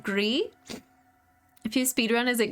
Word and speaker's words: Gris: I was informed it is pronounced Gree.